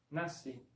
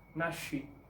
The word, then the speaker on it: nasci: Por ejemplo, la palabra nací se escribe así con SC, pero se pronuncia como si fuese solo la S, nací.